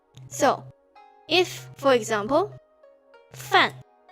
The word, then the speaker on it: 饭: And over here, this one pronounced as fan. So it's actually pronounced as fan.